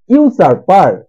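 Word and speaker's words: usurper: ইউসার্পার। উচ্চারণ ইউ ইউ সার্পার, যার মানে হচ্ছে জবরদখলকারী।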